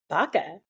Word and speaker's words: Baka: How do you say your last name? Baka. Baka.